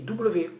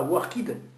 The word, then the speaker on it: worked: je travaillais, I worked, ça s'écrit W-O-R-K-E-D, mais ça ne se dit pas worked, ça se dit worked, W-E-U-U-K-T, worked.